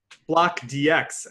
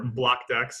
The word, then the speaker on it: Block DX: So block DX, as it's spelled, or block DEX as sometimes it's pronounced, is our first dApp